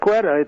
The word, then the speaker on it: Quetta: So maybe it's time to start doing targeted airstrikes in Quetta. Well, am I even saying it right? Yes, Quetta.